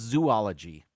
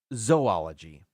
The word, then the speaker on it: zoology: was not aware of I always thought this was zoology it is not uh it is zoology and uh this is how it was explained if you cover up the first two letters it's ology the first